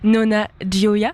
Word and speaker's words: Nonna Gioia: Donc il y a Jane et il y a aussi Nonna Gioia, ça se prononce comme ça, c'est en italien.